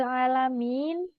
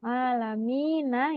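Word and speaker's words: العالمين: Karena contoh di Hirobil alamin, huruf mim berharokat kasroh bertemu ya sukun. Alamina ya. Kalau kita tetap di huruf mim, itu jadinya dia masuk di rongga hidung.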